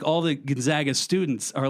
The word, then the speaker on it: Gonzaga: Yeah, Gonzaga. That's how you pronounce Gonzola. it. Sorry, it's Gonzaga University.